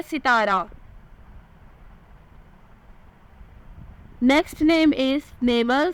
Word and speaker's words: Naimal: Next नेम इज़ नेमल, spelling है NAIMAL, meaning है खुदा की तरफ से अता किया गया।